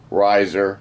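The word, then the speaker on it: Reiser: and mineral identification followed by my name Riser space capital M period capital S period rap Riser is spelled r-e-i-s-e-r I encourage you to watch my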